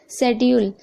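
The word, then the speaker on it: schedule: सी silent है okay शेड्यूल यहां पर भी आप देख रहे हैं एस के बाद सी है तो सी साइलेंट है तो यहां पर आपको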